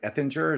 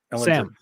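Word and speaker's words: Ehlinger: They're starting that Brad Effinger. Is that how you say it? Ellinger. Sam Ellinger.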